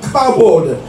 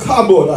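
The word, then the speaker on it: כבוד: And so when we talk about the glory of God, we are talking about the kabod, or the doxa. I'm going to spell that kabod, a Hebrew word, K-A B-O-W-D.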